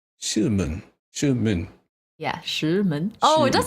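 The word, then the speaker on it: 石门: Shimen. Shimen. Yeah, and they're both the like, you know, the tone that like climbs upward? Yeah. They're both that tone. Shimen.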